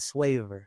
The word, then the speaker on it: Swavor: Swag and flavor. You dig? Sweet. Could you spell that for me? S w a b o r. So, it's like you take the name. You take swag, right? You take the sw from the the swag and then you take the